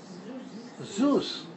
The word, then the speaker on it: Zeus: Zeus. Okay, we say Zeus. Zeus. How do you spell it?